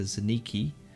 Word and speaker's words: Zaniki: And, we can introduce Odun's character, Zaniki, perhaps. Oh, it's Zaniki. We have been pronouncing his name wrong this entire time. I do Zankini, apologize.